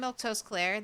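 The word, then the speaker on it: Milquetoast Claire: I'm Milto Claire.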